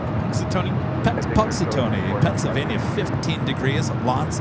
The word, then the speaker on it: Punxsutawney: Pungsawana? Punxsutawney.